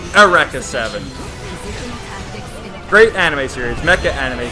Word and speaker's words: Eureka Seven: down kill them well it's Eureka Seven it's how it's spelled but it's pronounced a wreck of seven great anime series Mecca